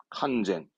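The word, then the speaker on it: 完全: 완전한 칸젠, 칸젠.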